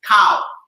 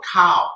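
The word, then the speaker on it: khao: to stir fry and cow doesn't mean by the shape of my body it means right it means um rice cow k-a phonetically k-h-a-o cow cow pot so if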